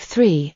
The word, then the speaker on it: three: He would say tree instead of three and think instead of think.